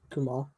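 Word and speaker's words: Kumail: there it ends with an i but it's pronounced kumal okay I'll take it word from I've heard some people pronounce um I I I've been saying camil um anyways um so sorry yeah I don't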